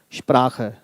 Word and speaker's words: Sprache: Now, why we are pronouncing it long? Because CH is considered as the one consonant. It's not Sprache. Sprache.